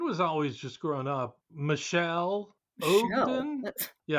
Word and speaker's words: Michel: But yeah, it's a it's a male name, but it's pronounced Michelle.